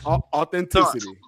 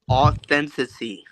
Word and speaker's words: authenticity: Authenticity. No. So close. Revisit again in 30 You keep missing seconds. the syllable. You keep missing the syllable. Authenticity.